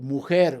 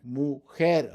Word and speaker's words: mujer: Mujer, woman. Mujer, on the last syllable.